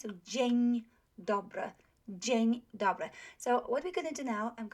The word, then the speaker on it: dzień: So let's look at this word, dzień, dzień, okay? So G, right? G, our trigraph, yes? And we also have n, so dzień, dzień, right? So dzień dobry, dzień dobry.